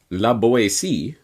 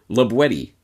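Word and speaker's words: La Boétie: as might be thought la boyce but rather labuetti with the hard tea as it was pronounced in the perigord dialect of the region in which libwedi lived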